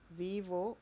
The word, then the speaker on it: vivo: Vivo is V, although probably natives they're gonna pronounce this like B.